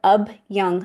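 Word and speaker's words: abhyanga: do your dry brushing then do something called ABY massage it's spelled a b h y a n g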